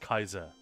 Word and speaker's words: Caesar: It's literally just Caesar. And in Latin obviously it's c a e not c ea but yeah in Latin it would have been pronounced kaiser kyum for instance has